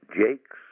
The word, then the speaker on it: Jacques: The name is Brian Jacques, and as we say, Jakes as in cakes, and oh, for goodness sakes. He pronounced it to rhyme with cakes.